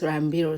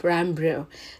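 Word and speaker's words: Ranbir: it as rambir but I've used two days and two night to learn how to pronounce rambiro so from today and Sport you'll start hearing me pronouncing it as rambir instead of rambro that is sounding like Rambo in you guys yes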